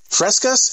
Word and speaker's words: Fresca: All right, it's the official taste test of Minute Maid's Aqua Frescas. Is that how you pronounce it? Fresca. So it's Fresca or Frescas with the S? Fresca.